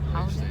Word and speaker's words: Heusden: Heusden, yeah. Oh, huh? Heusden. Heusden. You spell it like H-U-I or H-O-U?